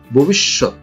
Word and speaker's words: ভবিষ্যৎ: এই উচ্চারণটি অনেকেই ভুল করে, আসলে ব্যাকরণ সম্মত এর উচ্চারণ হচ্ছে ভবিষ্যৎ।